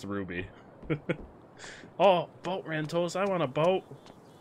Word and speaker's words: RWBY: It makes sense, though, that it would just be pronounced Ruby.